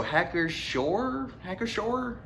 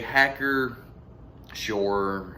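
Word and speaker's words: Hacker-Pschorr: I'm gonna guess the P is silent, so Hacker Shore, maybe.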